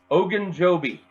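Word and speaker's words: Ogunjobi: come together so let's look at this guy Hogan Joby say it with me now Larry Hogan Joby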